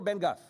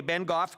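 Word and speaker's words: Bengough: The participating urban municipalities are the towns of Rock Glen, Willow Bunch, Bengo, is it Bengo or Bengoff? Bengoff? Sorry, okay, Bengoff, and Cornack.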